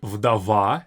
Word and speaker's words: вдова: Вдова, very similar in pronunciation with English. Widow, вдова. In Russian, we don't have this w and widow sound. We don't have that. You might even hear a Russian say vidov because we don't have this widow sound.